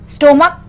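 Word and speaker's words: stomach: स्टोमक स्टोमक्स, एस लगा है CH के बाद।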